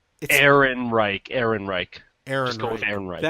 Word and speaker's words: Ehrenreich: Aaron Reich.